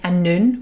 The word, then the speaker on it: Annwn: dream world is called a noon which is spelt a-n-n-w-n it's not at all how you say it and that is the